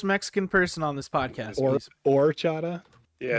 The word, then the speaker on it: horchata: person on this podcast or Chada yeah it's or or the H is silent all right I might